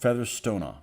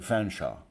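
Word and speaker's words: Featherstonehaugh: of call it featherstonea you would expect to be pronounced featherstona yeah but over time it is contracted to fenshaw yeah well I talked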